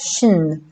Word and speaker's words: sin: This character name is formed from the Irish root word sin, pronounced shin, meaning we, us, and